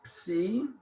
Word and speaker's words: psi: the last letter is psi, which is an upsilon. Make an upsilon and put a line through it like a fork. Psi, P-S, ps, P-S. The letter is psi, and it's pronounced ps, P-S.